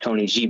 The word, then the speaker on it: TNYG: So that's what the acronym version of it is, but it is pronounced Tony G.